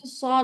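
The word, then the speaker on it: صاد: সুন্দর হয়েছে আচ্ছা তারপর সদ উচ্চারণ সদটা হচ্ছে আপুরা মোটা করে উচ্চারণ করতে হবে হ্যা আর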